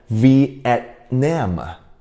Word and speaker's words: Vietnam: T 你要停下来一下 Vietnam，所以我们不会读成 Vietnam，不会 Vietnam，那边的 T 顿